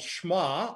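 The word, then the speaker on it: שמע: Our call to worship is from Deuteronomy chapter 6, and these verses are in the Hebrew called Shema, or that's how it's pronounced.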